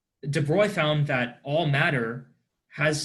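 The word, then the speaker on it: de Broglie: application was made by Dubrow who was this I suppose name it's not pronounced like this it's a French name de Blois found that all matter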